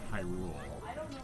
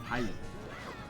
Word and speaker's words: Hyrule: the word where they sometimes emphasize the why a lot and it'll say like uh oh in the land of in the land of Hyrule.